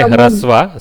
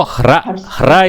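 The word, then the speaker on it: ह्रस्व: Okay, so hra is the pronunciation, not hr.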